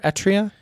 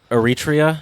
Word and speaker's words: Eritrea: read about was um is it eritrea or etria eritrea thank you i think that's how